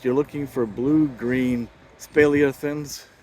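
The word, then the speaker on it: speleothem: looking for blue green spalio thins is that how you pronounce it yes so we're looking at um any spalio thms really so these are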